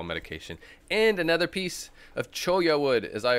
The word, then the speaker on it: cholla: And another piece of cholla wood, as I like to pronounce it. Cholla, like Spanish pronunciation, because it's a Spanish cactus.